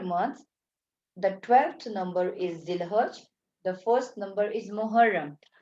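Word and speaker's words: Dhu al-Hijjah: I think I should have to write Z so it will not give you a trouble to pronounce Zil Hajj. It's basically called Zil Hajj.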